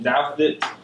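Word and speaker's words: Douthit: uh first name patrick last name doubt it that's how you say it yeah you got it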